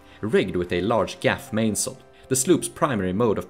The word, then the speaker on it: mainsail: are pronounced mainsail, headsail, etc.